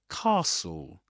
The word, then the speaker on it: castle: As you as you can see, the initial vowel sound in the word is different in the UK. In this accent, standard southern British English or RP receive pronunciation in those accents. The first vowel sound is this long a sound that you'll that that you'll hear, sorry, that you'll hear in words like car car.